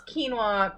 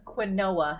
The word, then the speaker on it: quinoa: the chapter quinola sacagawea i used to pronounce quinoa quinoa because i'm from a different state and that's just how they pronounced it there so well that's how my mom pronounced it not with an l it's quinoa but she keeps thinking you